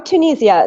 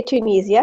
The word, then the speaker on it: Tunisia: Or Tunisia. The English say Tunisia, Americans say Tunisia.